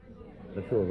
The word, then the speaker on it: La Trobe: Do I pronounce it right? La Trobe. La Trobe, okay.